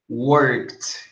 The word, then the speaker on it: worked: Então, por exemplo, o verbo work, no passado, você pronuncia assim, ó. Worked. Worked. Mas é só a pronúncia. Eu coloquei o T para vocês saberem como é pronunciado.